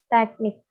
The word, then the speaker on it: teknik: salah teknik menggunakan ha pangkalan yang benar ialah teknik teknik2 kedua ada kata Tegal pelafalan yang salah the hell dan kawan-kawan yang